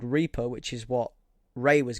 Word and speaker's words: Reapr: And to rival the app Reaper, that's spelled REAPR, you have an app called Defender, which is DEFNDR, I think.